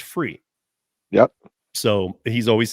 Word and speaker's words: Fure: cab if you want to go to the website um but it's it's pronounced free yep so he's always